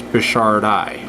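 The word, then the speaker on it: brichardi: named after him and when you name a fish after like say a man you add an i at the end of his last name and it's a i sound a high eye like um it's bashar die named after a guy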